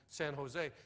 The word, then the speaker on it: San Jose: She said, out here we pronounce that J like an H. It's El Cajon and San Jose.